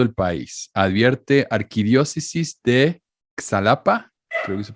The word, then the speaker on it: Xalapa: como méxico gméxico este problema con xy se pronuncia méxico xalapa es otro pero por ejemplo xochimilco se escribe